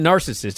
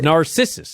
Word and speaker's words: Narcissus: it was his name it wasn't narcissist it was narcissus i think either way you're supposed to emphasize the second syllable there's no way his